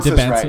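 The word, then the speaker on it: Dybantsa: If they add to Debonsa, whatever you How do you pronounce his name? I think that's right. Debonsa.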